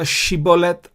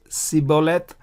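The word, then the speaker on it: Shibboleth: Remember Shiboleth versus Siboleth. You pronounce Shiboleth if the dot is on the right. You pronounce Siboleth if the dot is on the left.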